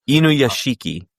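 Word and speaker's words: Inuyashiki: Inu Yashiki. Ina Yoshiki. Yeah. Yeah. Not Inu. Yasha. How do you spell that?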